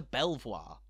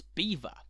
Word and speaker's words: Belvoir: driver that you'd like a ticket to throme or to Belvoir only to be swiftly told it's Froome or it's Beaver believe me this has happened